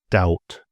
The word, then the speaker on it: doubt: So B is often quiet if it follows an M or before a T.